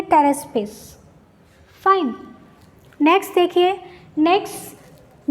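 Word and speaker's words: Pteraspis: इसमें जो पी है वो साइलेंट है, तो हम इसको बोलेंगे टेरेस्पिस.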